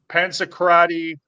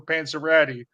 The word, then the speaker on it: Panzerotti: Panzerotti, Panzacrati, Panzarelli, Pepperoni, Pete Pepper Pastic. You have literally pronounced every single word in the English language except for Panzeratti for what?